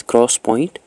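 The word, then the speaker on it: 3D XPoint: Then fifth जो है that is 3DX point, which is pronounced as cross point.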